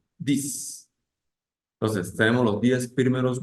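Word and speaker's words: dix: es dis dis bien esa x suena como ese y se pronuncia y decimos dis Entonces tenemos los 10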